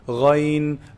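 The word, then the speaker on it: غين: So ghayn is pronounced from the top part, the highest part of the throat, the closest to the mouth. Ghayn, agh, ghayn, ghayril maghdubi alayhim.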